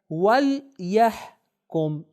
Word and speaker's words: وَلْيَحْكُمْ: آپ کی خاص توجہ چاہوں گا، اس کا تلفظ بھی ہم صحیح سے کریں. پہلا ورڈ کیا ہے؟ وَلْيَحْكُمْ.